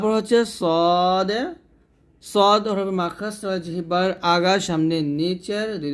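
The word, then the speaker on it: ص: না তো যাই হোক সদটা আমরা মোটা করে উচ্চারণ করব সদ হরফটা মোটা করি আর চারটা নিয়ে পড়তে হবে তাহলে এটা হবে সদ সদ এখানে সদ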